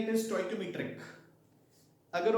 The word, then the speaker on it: stoichiometry: सो इट इज स्टोइकोमेट्री एंड it should be स्टोइकोमेट्री, fine, you getting a point. No स्टिचियोमेट्री, स्टोइचियोमेट्री, है ना, pronunciation should be very correct, ठीक है, मतलब science